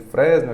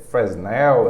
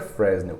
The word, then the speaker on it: Fresnel: aqui chamado fresnel tá Eu chamo ele de Fresno Aquino em defesa a pronúncia correta não é essa fresnel é uma coisa assim mas é muito complicado falar eu prefiro chamada de